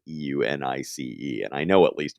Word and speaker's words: Unus: Or I pronounce it Eunice. Is it supposed to be Unus? God, I hope not. I say Eunice.